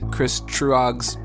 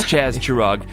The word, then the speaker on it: Chaz Truog: Hopefully we'll get Chris Truog's pronunciation on there soon enough. Yes, we will. It's Chaz Truog. And I swear to God, Nick, you wow. said Chris every time.